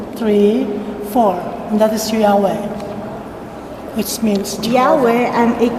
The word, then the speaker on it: Yahweh: in that video that the yhwh engraved in the mobait stone which is preserved in the forest museum was pronounced as yahweh in other words yahweh